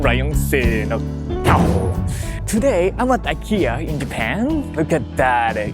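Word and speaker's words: イケア: Speaking of the Ikea in Japanese, it's Ikea. That's how we pronounce in Japanese.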